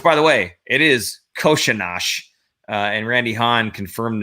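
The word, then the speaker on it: Kořenář: long time ago like it's not coronage it's not coronar the coaches keep saying it wrong uh it is koshinash so um that's how he says if you want to say it right that's how you say it so there you go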